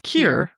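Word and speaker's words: Keir: Kier. I believe that's how you say it. Mor's father. Kier. It's Kier.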